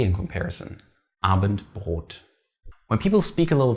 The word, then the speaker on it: Abendbrot: Abendbrot.